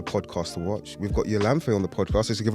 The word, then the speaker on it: Yolanthe: We've got Yolanthe on the podcast.